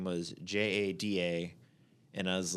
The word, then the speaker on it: Jada: and I was like, "How do you pronounce this?" And they're like, "Jada." I was like, "That's Jada." Jada. The letters make jada. There's nothing to make the J sound.